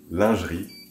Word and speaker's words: lingerie: Boudoir, glamour, photography, lingerie, or in French, lingerie. That's how you pronounce it.